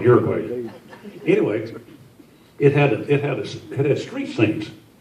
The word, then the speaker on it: Uruguay: They pronounce it Uruguay, but we call it Uruguay.